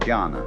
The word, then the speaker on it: jhana: which in turn is the Chinese way of pronouncing the Sanskrit word jhana. And jhana is a very difficult word to translate into English, if not impossible.